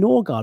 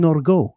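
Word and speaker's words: Nørgaard: Saliba, and new signing Christian Norgard, or should I say Christian Norgo? I don't know if you heard that, the correct pronunciation of his name.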